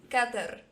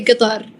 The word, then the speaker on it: Qatar: because um uh way the way His Highness pronounce it and everyone in the right way is Qatar got there uh okay and then in English they said